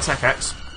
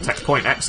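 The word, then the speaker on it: Tech.X: I quite like Tech X, or Tech Point X if you want to say it wrong. I like the way Tech Point X rolls off the tongue, but it's completely wrong, so I'm not going to actually say it.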